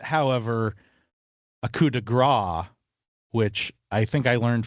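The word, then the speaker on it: coup de grâce: Well, I'm going to pronounce it first, because otherwise I can't really talk about it. It's coup de grace, and that is like the final blow, basically.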